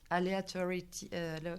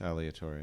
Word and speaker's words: aleatory: and play with between aleatority. How do you pronounce it? Aleatority. The aleatory, yeah, yeah. I mean, it's aleatory in English.